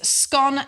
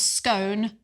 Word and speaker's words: scone: right and he said the correct pronunciation is scone as in gone and not scone as in bone bone yeah so so